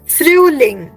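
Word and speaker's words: Frühling: Nitin that is perfect फ्रूलिंग फ्रूलिंग you have to first right फ्रू then लिंग फ्रूलिंग right फ्रूलिंग alright then next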